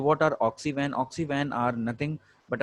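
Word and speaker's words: Oxy Van: Now the first is ऑक्सी वन. So this is pronounced as one. Hindi में हम जो लिखते हैं वन मीन्स फॉरेस्ट, इसे हम ये कहेंगे, इट इज नॉट वैन, इट इज नॉट the automobile वैन.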